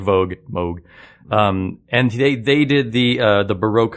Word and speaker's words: Moog: One time I know, because it looks like Moog, and I saw it one time in parentheses they wrote Vogue, and that's always stuck in there. So it sounds like Vogue, Moog.